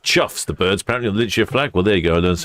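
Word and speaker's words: chough: Pronounced chuffs. The birds apparently on the lure flag. Well, there you go. I learn some every day. Spelled cough. Pronounced chuff.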